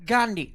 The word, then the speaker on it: Gandhi: You can't even pronounce it right. It's Gandhi.